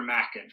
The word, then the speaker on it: Machen: It's Arthur Machen.